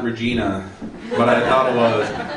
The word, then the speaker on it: Regina: He was like, "It's Regina," and I was like, "Whoa!" I didn't spit on Regina. I just said it wrong.